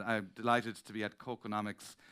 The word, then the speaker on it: KÅKÅnomics: So I come from Kilkenomics, and I'm delighted to be at KÅKÅnomics. It's easy to remember. I also know that it's important, that pronunciation. It's not KÄKономicS.